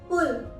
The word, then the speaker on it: pull: जैसे BUSH, Bush, PULL, पुल। इसके अलावा भी और भी बहुत से वर्ड्स हैं जैसे पुट, PUT, पुट। इन सभी वर्ड्स में हमने यू को ओ की तरह प्रोनाउंस किया है, जबकि यू दो कॉन्सोनेंट